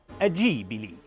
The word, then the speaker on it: Ghibli: Donc officiellement Jibli Gibli ou Jibili c'est d'origine italienne et donc ça devrait se prononcer adjibili avec les mains.